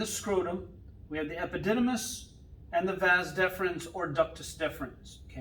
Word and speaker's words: epididymis: is called the epididymis it's the epididymis or i say epididymus so i remember how to spell it it's all eyes but